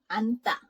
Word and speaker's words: 앉다: Here also, just pretend you don't see this 찌읒, you just see this ni은, so it's 앉다. Okay, and this one here too. 앉다. Oh, yeah. So because you are only gonna pronounce the first consonant and just ignore the second part, this one, even though they are written differently, they sound the same.